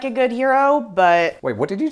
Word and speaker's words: gyro: what it is what's heroic about it no g-y-r-o a hero that's the word that everyone thinks is pronounced gyro well the thing that